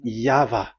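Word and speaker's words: Yahweh: the phonms the pronunciation pronunciation is equal V. It is V Y H V H. So it is Yava.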